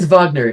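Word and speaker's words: Wagner: friend Vagner friend Vagner I I I have German me so I have to say it right FR Vagner is playing at the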